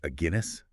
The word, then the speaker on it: Aguinis: in 1994 it's by a Guinness pronounced like the beer like the beer a